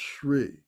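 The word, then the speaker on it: श्री: So I can see that, the Shri is spelled differently than you would expect. It's pronounced Shri.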